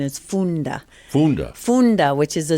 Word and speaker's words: Funda: wrong well you know it looks like fun so people want to say Funda but the actual pronunciation is Funda Funda Funda which is